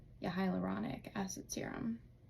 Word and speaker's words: hyaluronic: like I I need that um and a hydrauluronic acid serum I think I said that right yeah hyaluronic acid serum butchered it a little bit but yeah so